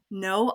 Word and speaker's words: Noh: So her practice name is No Eyes Left Behind, but her last name is spelled N-O-H.